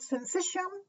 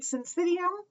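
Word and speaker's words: syncytium: a functional synthetium now that word i've heard pronounced multiple ways i've heard sensation i've heard syncidium so you know whatever you want basically all it means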